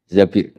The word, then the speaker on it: Zabir: di di hadis ini bukan bacanya bukan Zubair tapi Zabir Abdurrahman Bin Zabir tapi